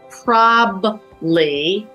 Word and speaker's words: probably: the word probably often you here probably but there are three syllables every industry has verbiage